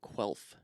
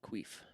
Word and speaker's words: Quelf: One of those board games being Quelf, or as we like to call it, Queef, because none of us can pronounce it correctly.